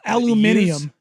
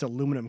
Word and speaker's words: aluminum: like Danny just said at least we can pronounce aluminum correctly letters aluminium aluminum is a tough one there's a lot of adult people that can't say there's no extra eye in there like they say